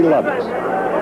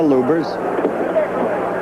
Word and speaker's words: Lubbers: Muhammad Ali against Rudi Lubbers. Or Lubbers. It's pronounced both ways. Lubbers is probably more technically correct. Anyway, it's the way Rudi wants it said.